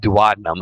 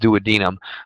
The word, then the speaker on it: duodenum: The The pancreas and the duodenum of the small intestine, not duodenum. I hate when people say duodenum. It's pronounced duodenum.